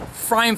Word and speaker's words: pFriem: And the P is silent on there, so they make it small. pFreim Family Brewers.